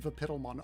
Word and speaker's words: Vapid Lemon: But you have to pronounce it Vapidalmon. I did that the first time I saw your username. I thought it was Vapidalmon. And then I realized I was wrong. All right, actually, apparently. Apparently that's the correct canonical pronunciation.